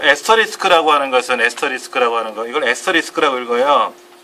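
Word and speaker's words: asterisk: 그러니까 요 에스터리스크라고 하는 것은 이걸 에스터리스크라고 읽어요.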